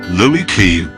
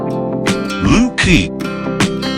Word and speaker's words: Looe Key: And it's not pronounced Looe Key, as you would expect. It's pronounced Looe Key.